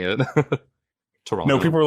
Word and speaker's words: Toronto: interesting you say like you say like natives here Toronto you didn't pronounce the second T whoops it just came